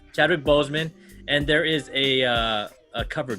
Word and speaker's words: Boseman: This is the homage to Chadwick Boswick. Chadwick Boswick. Am I saying it right? Bozeman. Chadwick Boseman.